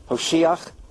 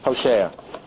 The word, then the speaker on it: Hosea: Hosheach? Is that how you say it? Hosea.